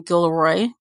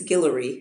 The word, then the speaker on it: Guillory: wedding date series by Jasmine Gilroy did I pronounce her last name right I know you know right it's I believe it's Guillory oh thank you I